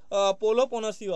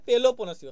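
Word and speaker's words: Peloponnesian: কিন্তু মেগারিও মেগারিও কিন্তু হবে না এটা কিন্তু পোলো পনসিও হবে ঠিক আছে কিন্তু গুলি ফেলো না তাহলে কিন্তু কমেডির উপরে কিন্তু মেগারিও দাবি আছে এবং উপরে কিন্তু কিনা পোলো পোসিওদের দাবি আছে পোলো নয় পেলো পনেসিও সরি উচ্চারণ কিন্তু পেলো পনেসিও করে দেবে পেলো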